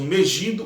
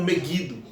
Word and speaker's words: Megido: Alguns pronunciam Megido ou Meguido.